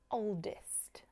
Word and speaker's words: oldest: largest old older oldest notice with the superlatives I'm not saying EST oldest I'm saying IST oldest an example it was